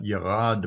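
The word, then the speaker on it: ירד: There is no J in the Hebrew language, so if you see these names with a J, it's pronounced as a Y.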